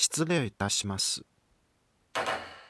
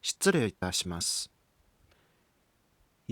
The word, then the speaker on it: 失礼いたします: 失礼いたします。③ Standard Japanese is 失礼いたします②.